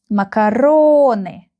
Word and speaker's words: макароны: We have 4 syllables here. And the stress is here on the third syllable. МАКАРОНы, МАКАРОНы, МАКАРОНы, макароны, макароны, макароны.